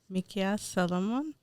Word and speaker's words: Mickias Solomon: and today we have a very special guest mikia Solomon did I pronounce that right you got it welcome thank